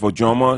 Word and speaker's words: Ojomo: So it's pronounced Ojomo. You can miss it. And that's my name. And you can go on my Facebook, Ojomo.